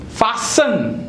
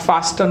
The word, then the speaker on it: fasten: What is the correct pronunciation? Depot. Bus depot and bus depot, but not depot. Fasten, not fasten.